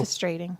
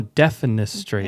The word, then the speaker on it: defenestrating: Denifistrating. No, defenestrating. Exactly. You said denifa.